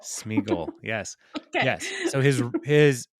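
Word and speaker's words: Sméagol: I don't know it it rhymes with eagle smeagle Smigel yes yes so his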